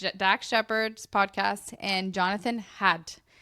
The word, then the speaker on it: Haidt: Shepard's podcast and Jonathan Hadt. It's Haidt Hadt. I think that's how you say it.